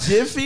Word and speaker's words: Jif: So Jiffy is that. So yeah, that's how it's spelled. Is it Jiffy? Oh, no, peanut? It's Jiff. It's just called Jiff. Jiff. Jiff peanut.